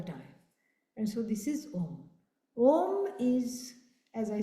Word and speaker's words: Om: This is Om. And of course, when you chant, you don't separate the syllables. You don't say Aum.